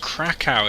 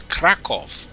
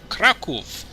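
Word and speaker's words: Kraków: It's not even pronounced Krakow, it's Krakow. Krakow.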